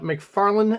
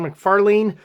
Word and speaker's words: McFarlane: how to pronounce names apparently it's Todd McFarland and not Todd McFarlene uh the debate is